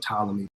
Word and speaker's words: Ptolemy: the one so turned a lot of people made a mistake and you say put Ptolemy but to pee is silent there the first hotel who